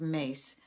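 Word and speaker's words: Myss: anything by Carolyn and I think her name is pronounced mace some amazing things that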